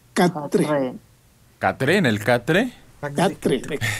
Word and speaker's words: quatre: Se escribe cuatre, pero se pronuncia catre.